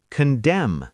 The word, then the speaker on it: condemn: Condemn, C-O-N-B-E-M-N. Condemn, to judge harshly. Solemn, S-O-L-E-M-N. Solemn, very serious. See the pattern? M-N at the end, N is silent.